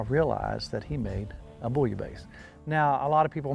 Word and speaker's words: bouillabaisse: in in the french if there's two s's it's not the z sound it's the hard s sound so you might hear some people say boy a buzz or bully a base or i think proper